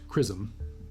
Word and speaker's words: XRISM: XRISM pronounced CRISM is the X-ray imaging and spectroscopy mission led by the Japan Aerospace Exploration Agency in partnership with NASA and ESA.